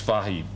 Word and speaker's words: Fahey: he is you grew up in new york pronouncing but it's fahi so if there are irish men here or